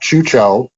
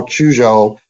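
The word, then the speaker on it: Quzhou: Airfield they were told in a place called Chucho or as it's pronounced and spelled now chujo Q Z hou uh one of the interesting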